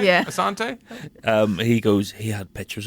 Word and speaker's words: Assante: Assante.